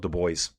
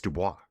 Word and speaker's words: Dubois: He calls himself the boys. I'm like, dude, you're saying your name wrong. And he goes, I know. My dad makes me say it that way. It's Dubois.